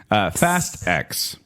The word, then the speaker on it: Fast X: I don't know how to pronounce this. It's Fastix. Fastix. Fast X.